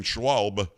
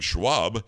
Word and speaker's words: Schwalb: Comer said he wants to grill Bowser, City Council Chair Phil Mendelson, and Attorney General Brian Schwalb, Schwalb, S-C-H-W-A-L-B. I'm used to saying Schwab. Do you pronounce the L?